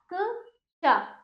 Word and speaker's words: क्ष: शा, क शा शा शा, वृक्ष में आधा का और श का उच्चारण होगा।